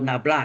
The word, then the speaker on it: nabla: anda sudah tahu Del itu Ini apa ini bacanya Del atau nabla kan yaitu apa nih Do per do x